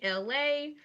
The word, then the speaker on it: LA: This is me, LA. Pronounced like LA, not like the city.